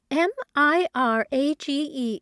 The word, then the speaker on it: mirage: M I R A G E is pronounced mirage, said Valency shortly, picking up her tea and her beans.